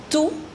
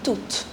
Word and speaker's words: tout: The pronunciation of the second and the fourth is same. That's toute and toute.